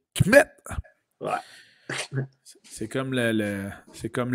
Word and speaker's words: Kmet: Kmet. Ouais, c'est comme Comet, là, mais il faut que tu dises vite. Kmet.